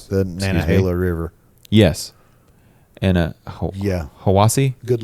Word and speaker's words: Nantahala: I do know that's Nantahala. Nantahala, okay. Like the Nantahala River.